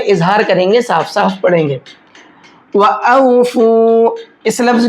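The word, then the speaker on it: وَأَوْفُوا: व औफू, इस लफ्ज़ की भी हिज्जे कर लेते हैं। वाव ज़बर व, हमज़ा वाव ज़बर औ, व औ, फा वाव पेश फू, व औफू।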